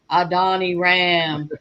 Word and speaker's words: Adoniram: to find out how to pronounce it i was going like a donny ram well that's right it was it was